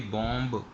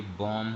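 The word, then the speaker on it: bomb: देंगे इसी तरीके से यह बंब नहीं होता यह बम होता है अगर आप कभी इंग्लिश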